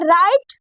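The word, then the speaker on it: write: उसके बाद क्या है राइट राइट यानी लिखना हमने इसको राइट इसलिए पढ़ा है क्योंकि जो डब्लू है य साइलेंट होता है तो हमने इन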